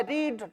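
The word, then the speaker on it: read: क्योंकि अगर प्रोनाउंसिएशन की बात करें तो आता है रीड रेड रेड।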